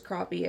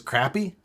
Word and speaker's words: crappie: Did someone think it was crappy? Because it's spelled like crappy? It's pronounced crappie. In the South, everyone calls them crappie. What the fuck is a crappie? Really? No, crappie is how it's said. Crappie.